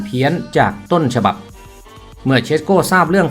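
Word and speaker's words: Šeško: และ นอก สนาม โดย ตัว อักษร S ใน ชื่อ สกุล ของ เชสโก เป็น อัก อักษร พิเศษ อ่าน ออก เสียง เป็น ช้าง ไม่ ใช่ ส เสือ ยก ตัว อย่าง เช่น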